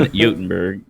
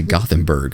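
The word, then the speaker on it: Göteborg: I thought you were gonna say Gothenburg. I was like, oh no, don't do it.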